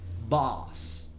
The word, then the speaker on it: boss: Entonces, en este caso vamos a poner la boca para decir O, pero en vez de decir O vamos a decir A. Entonces, like a boss, boss. No es una O, tampoco es una A, es una combinación de ambas.